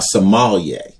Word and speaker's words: sommelier: other day he said it's just a sommelier like somalia a sommelier a guy who actually